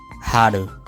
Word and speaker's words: HAL: So, what you do instead is you say, so it sounds like you're making an L, but with an accent. Hal. Haru.